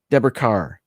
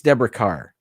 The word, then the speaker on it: Deborah Kerr: Deborah Carr. I think it's pronounced Carr, although it looks like Kerr, but I think it's Deborah Carr.